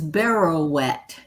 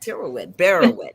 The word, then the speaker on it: Barrowet: My last name is Barrowet. It rhymes with pirouette. Barrowet.